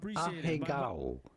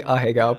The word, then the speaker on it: ahegao: Looking at how to pronounce this Japanese anime and Japanese manga term ahegao.